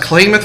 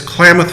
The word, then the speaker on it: Klamath: he said the question is it pronounced claim it falls or Klamath Falls it's Klamath Falls I Amith and there